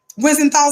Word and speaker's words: Wiesenthal: Let me pronounce it right. Yes, Wiesenthal Center.